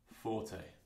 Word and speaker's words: forte: write it down pronounced piano and this is pronounced forte okay speech marks there's other ways of writing